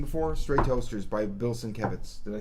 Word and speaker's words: Sienkiewicz: But, man, if you really want something that's you've never seen before, Stray Toasters by Bill Sienkiewicz. Did I say it right? Sienkiewicz.